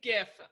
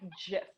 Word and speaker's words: GIF: How do you say it right? I say GIF. I say GIF, but everyone that is like important is like, it's GIF. And I'm like, it's not, it would be a J and it would be peanut butter.